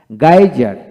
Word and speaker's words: geyser: হেই, হেই, গাইজার, গাইজার, এখানে GEYSER, গাইজার, গাইজার।